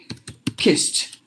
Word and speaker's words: kissed: like that and then you say kiss you put a 80 that 80 T sound so you have to say kissed kissed and then you